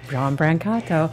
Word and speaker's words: Brancato: are live today with John Brancato John Brancato thank God though when he told me how to pronounce his name he said it with the very Italian accent so I thought I'd